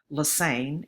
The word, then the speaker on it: Lesesne: you don't know um my last name looks like lesesne but it's pronounced Lane it rhymes with insane uh my office is